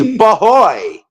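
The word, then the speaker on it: b'hoy: It's bahoy. Like Ahoy.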